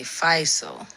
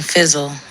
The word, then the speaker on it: Fyzal: Okay, Fyzal. Yes. When I read it, I was thinking Fizzle, so I'm glad you pronounced it for me.